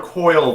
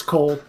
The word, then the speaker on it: Coyle: I can call up Magister Izzy, was it Cole or Coyle that you were going to have that name pronounced as? It's Cole.